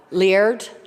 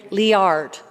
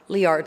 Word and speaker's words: Liard: properly Dan uh uh Laird Laird have I got it right is it Lia liard liard thank you I was up at